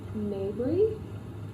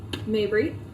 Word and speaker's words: Mabry: is tigers not daughters by samantha mayberry still naked pronounce her name mabry uh tiger's not daughters